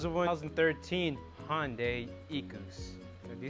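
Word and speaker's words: Equus: Hyundai hey how's the boy thousand thirteen Hyundai eCos you say it like that okay well this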